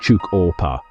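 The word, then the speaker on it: Tjukurpa: This belief system is known as chukupa, pronounced chuk ora.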